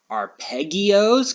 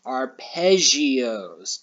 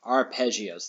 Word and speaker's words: arpeggio: pronounce how do we think that we would pronounce this word right here our pegios because of the two g's nope this is actually pronounced arpeggios two g's together makes a z sound arpeggios let's click on it and when it brings